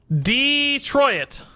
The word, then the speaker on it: Detroit: dirty song we're talking about to be honest Detroit Detroit I'm from Michigan that's how we say